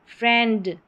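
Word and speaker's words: friend: ए करके ब्रेड अ फिर ये वाला है ए फ्रेंड फ्र ए फ्रेंड ए आई ए मेड मेनी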